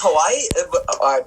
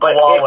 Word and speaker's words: Huawei: I think it's Hawaii. Oh man, I butchered that naming. But Huawei.